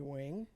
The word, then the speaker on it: Nguyen: last name last name well I pronounce a new one but people well the correct pronunciation Gwen Wing yeah no ain't nobody gonna say that they can't speak my language so I say new when when you win but the g is silent right so how would one of your people say it Wing okay what do you